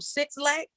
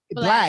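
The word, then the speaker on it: Blxst: I call him Six Lack, but Slack, I think is so lit. I would love to hear. Is that how you say his name? Is it Black or Slack? Black.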